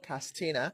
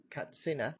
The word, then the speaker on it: Katsina: Katsina is not Katsina. Rather, you should say it as it spells, like Katsina.